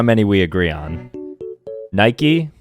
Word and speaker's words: Nike: Nike, Europeans say Nike, right?